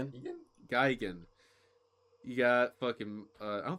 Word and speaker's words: Gigan: Geegan? Gigan. Egan? Geigen.